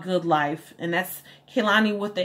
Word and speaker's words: Kehlani: easy and kailani called good life and that's Kalani what the H mic name is spelled kei le and I and my name